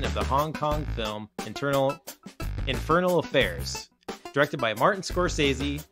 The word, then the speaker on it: Infernal: And is it Infernal Affairs or is it Internal Affairs? Infernal.